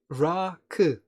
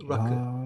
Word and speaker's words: Rakı: Rakı. Yes, two syllables. Rakı.